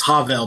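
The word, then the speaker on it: הבל: No, it's not the definite article. The hey is part of the word. It's right. It's Havel, but not ha as the definite article.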